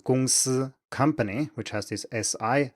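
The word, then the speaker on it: 公司: If you want to pronounce a word like 公司, company, which has this SI, S at the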